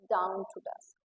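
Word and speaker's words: dawn to dusk: इट्स डाउन टू डस्क, यस the pronunciation is डाउन टू डस्क, spelling गलत है, डाउन में DOW आता है, DOWN, यहाँ पे DAWN, इट्स डाउन टू डस्क, नॉट डाउन टू डस्क, ठीक, इट्स डाउन टू डस्क, so pronounce it correctly, डाउन टू डस्क।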